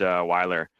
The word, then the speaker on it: Weiler: Wheeler, you have a discussion? Thank you, Mr. Chair. And just for information, my last name is pronounced Weiler.